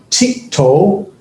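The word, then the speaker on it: תִּקְטֹל: just going to change, instead of the yod, I'm going to use a tav. And the tav will still have the here underneath it, the little dot underneath it, the little I sound underneath it, and it's still going to have the holum, the O sound, in the third or the second root position. That's the pattern.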